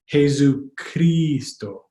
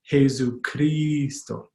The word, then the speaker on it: Jesucristo: aren't found in Tagalog, but it's a Spanish word, so we're going to go with Spanish pronunciation, but the I is just like an English Tagalog I, Jesucristo, Jesucristo.